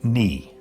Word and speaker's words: naoi: the word nine which in Gaelic is nao I pronounced knee so what are those